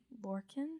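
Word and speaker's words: Lorcan: say his first name l-o-r-c-a-n lorkhan that's like lurkin larkin arkhan um this movie came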